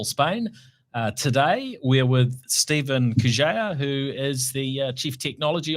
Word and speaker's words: Kurzeja: Today we're with Stephen Kurzeja, who is the Chief Technology Officer at 2degrees.